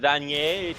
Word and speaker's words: Vanier: Yeah, I'm going to do my best this game to pronounce it Vanier, just to try to endear myself with the indigenous people who actually do know how to pronounce it.